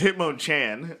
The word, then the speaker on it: Hitmonchan: my buddy gave me you said it wrong it's hitmonchan chant yeah not champ that sounds racist probably